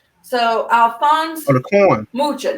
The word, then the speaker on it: Mucha: Alphonse Mucho. Mucha. Okay, so I'll spell it for you.